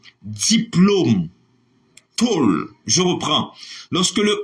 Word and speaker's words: diplôme: B dit parce que règle dit en français lorsque le E n'est pas surmonté de N conflexe ça se prononce comme E c'est parole c'est idole mais on dit Jérôme on dit on dit Jérôme on dit diplôme on dit rôle les o pas chapeau